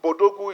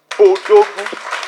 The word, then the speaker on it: Bodogwu: So I don't want us to start pronouncing it as an English acronym. It is African, it is Nigeria, it is Bodogwu. So when you pronounce it, don't call it B Odogwu.